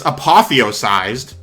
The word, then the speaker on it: apotheosized: up hang on so i looked up the word both the definition and also the pronunciation it's apotheosized and apparently it means